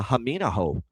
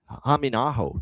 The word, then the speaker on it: Hamino: 2023 out of Finland, Lenny uh Hamino uh getting the um Hamo is actually how you say it.